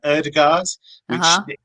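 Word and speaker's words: Ødegaard: when he arrived in england he said uh erdegaard fine as long as he's happy with that uh my understanding is it's erdagord so and you you kind of swallowed a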